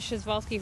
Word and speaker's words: Przewalski: arrived here last thursday in the evening this schezwalski horse it's a very awkward spelling and you pronounce it schezwalski horse these guys are the only uh wild